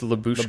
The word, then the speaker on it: Lyubushkin: You're adding another Y. That's Lyubushkin? Like it's Lyubushkin. Lyubushkin? Okay, Lyubushkin. There's just no other Y.